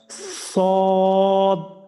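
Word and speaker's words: صاد: নাম আরেকবার একটু বলেন সদ হ্যাঁ এই সদ এবং দরের নামের শেষে কিন্তু একটু ধাক্কা দিতে হয় যেটাকে কলকলা বলে যেমন সদ যারা লিখছে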